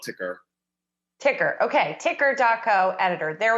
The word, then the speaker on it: TKer: I prefer to call it ticker.